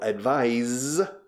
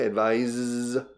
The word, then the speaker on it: advise: El verbo advise, pronunciación diferente, advise es con S.